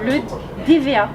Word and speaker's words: Le Dévéhat: Le DVA.